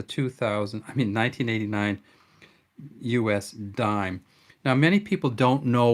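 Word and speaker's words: disme: country you'll see that it's written d-i-s-m-e but it was always pronounced dime and people always called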